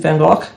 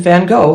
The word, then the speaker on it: van Gogh: Today we're going to be focusing on Vincent van Gogh, or Vincent van Gogh, however you'd like to say his name.